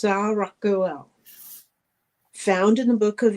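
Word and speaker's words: Saraqael: They're spelled a little different than they're pronounced, so I looked up the pronunciation because looking at it looks like Saragael. I believe it is pronounced Saragael.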